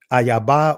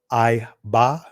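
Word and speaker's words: אֵיבָה: Ayaba or Iba, right? Because I have the connector there, so you could pronounce it two ways, Iba or Ayaba.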